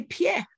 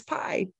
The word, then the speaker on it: pie: at the vowel pairs oh that looks from to me I would say Pierre that means your foot but the word is pi right oh that thou